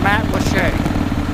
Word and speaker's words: Matlacha: This part of Pine Island is called Matlacha. I've lived here for like 7 years. It took me 6 years to figure out how to pronounce the name of this area, but it is pronounced Matlacha.